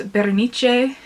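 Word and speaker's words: Berenice: ago um and still think about today it's bernice um that's how we were told pronounce it in class by edgar allan poe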